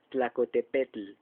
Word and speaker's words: Tlacotepec: cerros más elegantemente conté el imagínense como lo pronunciamos tlacotepec se oía raro pero en fin así es